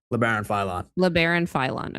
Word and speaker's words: Labaron Philon: And tell me if I'm pronouncing this name right. Labaron Philon? Labaron Philon.